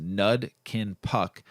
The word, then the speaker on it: Nud Kin Puck: The word Nud Kin Puck is a southern Thai language pronounced Nud Kin Puck.